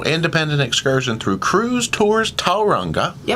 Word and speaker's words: Tauranga: Because I heard overheard that it is Tauranga. You put the emphasis on the first syllable.